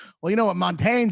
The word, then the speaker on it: Montaigne: You ever heard of the French philosopher Montaigne? Ray LaMontagne, the singer? No, of course I haven't. Jesus. Well, I don't know. Is it obnoxious to be like, well, you know what Montaigne says?